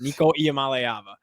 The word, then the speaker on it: Nico Iamaleava: Nico Iamaleava. You nailed it. Thanks, buddy. Thanks, buddy. We take pride in that. We've been taught Yes, right. we do. But this isn't the Nico Iamaleava show, right?